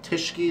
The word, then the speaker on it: Tyskie: Polish spirit this is known as Tish ski that's how you pronounce and polish tyskie the English basically the